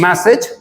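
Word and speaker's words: message: मेरे साथ दोबारा बोलेंगे language, language, मैसेज, मैसेज, village. Village. जब भी AGE किसी भी वर्ड के लास्ट में आता है तो उसका प्रोनाउंसिएशन एज ना होके इज हो जाता है।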